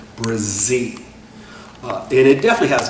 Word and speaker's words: Brzee: Brazie is spelled B R Z E E Brazie.